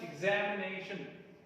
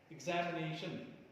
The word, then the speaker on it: examination: You can see prominence on two different syllables, right? One on Z, another on nay, right? Z and nay. These are heard loudly than the other syllables. Ik, no. Shan, no. Me, no. Examination, examination, examination. You hear it twice. Nay, Z. So these are the two accented syllables.